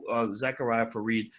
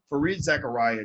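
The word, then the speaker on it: Fareed Zakaria: I think in New York, I could have sworn that they Zachariah Fareed. Everybody should go watch the CNN commentary about Fareed Zachariah. I keep getting his name wrong. Fareed Zachariah did.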